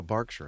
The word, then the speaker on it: Berkshire: Oh, Barkshire, not Bergkshire. Okay, then why did they spell it with an A?